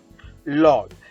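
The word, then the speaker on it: loll: a very relaxed position law it is not lol okay this because of the letter o it should not be pronounced as oh it is okay next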